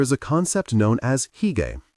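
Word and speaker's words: hygge: In Denmark, there is a concept known as higay, pronounced huga.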